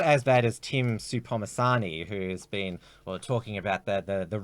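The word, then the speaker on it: Tim Soutphommasane: How do you pronounce his name? Tim Supomasani. Tim Supomasani.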